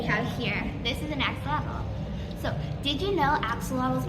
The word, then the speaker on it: axolotl: So technically, the traditional pronunciation of axolotl or ajolote is Axolotl.